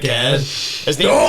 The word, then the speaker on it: Ged: There's a few people that were like in the same way that Sam was shouting at Ged. Do you know that's actually pronounced Jed as well?